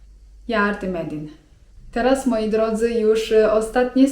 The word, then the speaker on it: yardım edin: Lub jeżeli chcemy się do kogoś zwrócić 'proszę mi pomóc' to możemy powiedzieć: yardım edin (czyt. jardym edin) Teraz moi drodzy już ostatnie słówko, które może się wam wydawać, że nie do końca będzie psaować do tych poprzednich.